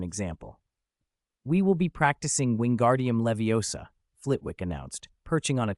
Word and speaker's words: Wingardium Leviosa: Pronounce the incantation correctly. Wingardium leviosa.